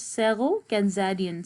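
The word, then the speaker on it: Sero Khanzadian: Sero, it is pronounced as Sero Kanzadian.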